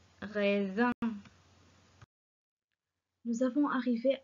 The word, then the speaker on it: raisin: S entre deux voyelles se prononce Z. Raisin.